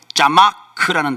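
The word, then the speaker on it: צמח: 여기서이 나타내다라고 번역한 히브리어 단어는 제가 히브리 발음을 좀 해 볼게요. 자마크라는 단어입니다. 자마크.이 이 단어는 없던 것을 기계적으로 뚝딱 만들어 낸다는 뜻이 아닙니다.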